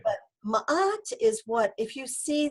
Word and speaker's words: ma'at: was the concept of ma'at ma'at is spelled m a and there's a little apostrophe a t so it's like matt but ma'at okay and ma'at is the